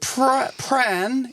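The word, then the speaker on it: Prahran: We're going to pronounce it Pran in Pran.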